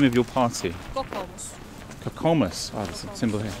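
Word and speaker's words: Kokoomus: Kokomus.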